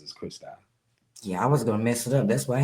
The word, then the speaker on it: Christou: with me throughout you know most people say Christo kristo you know which isn't wrong but you know the way I pronounce is Christy yeah I was gonna mess it up that's